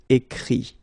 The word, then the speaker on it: écrit: Écrire, to write, will become écrit. Okay? Remember that phonetically this final T doesn't exist. Okay? So the sound will be only this I.